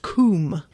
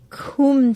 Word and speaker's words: cwm: cwm means valley coomb cwm is pronounced coomb kum tough yeah okay all